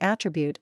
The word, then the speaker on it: attribute: don't have any proof when attribute is accented on its first syllable it's being used as a noun usually as a synonym